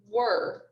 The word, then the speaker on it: were: this word is pronounced were as in we were at the grocery store so i'm going to